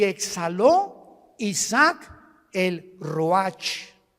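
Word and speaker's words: רוּחַ: y exhaló Isaac el Roach así como suena se pronuncia la c en hebreo como J ruaj se les só y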